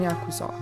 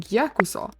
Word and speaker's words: Yakuza: In Japanese, these are pronounced ya, ku, and sa, together forming Yakuza.